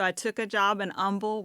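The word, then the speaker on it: Humble: So, I took a job in Umble, where we don't pronounce the H over there.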